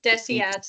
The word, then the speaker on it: DSATS: Sorry, I could just I I still can't get over the way that John said Desiats is so nice and professional. I always pronounce it deceits. Yeah, me too. It's deceit.